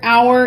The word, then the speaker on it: hour: hour this is though the H is silent now the word hour itself can be a